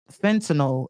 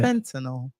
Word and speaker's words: fentanyl: It was an apparent fentanyl exposure. This drug. You gotta say it like us, Tab.